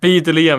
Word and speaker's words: Belium: I think Belium. I don't know if that's his. I think that's his name, Belium. Oh, Belium. Yeah. Belium. Yeah, that's how you pronounce it.